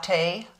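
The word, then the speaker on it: Ciaté: from last month okay I finally figured out how to pronex pronex how to pronounce CI a te it's Cate London watermelon burst hydrating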